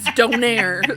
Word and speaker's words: Donair: Turkish D Don well I'm pronouncing it the Halifax version which is Donaire so don don trying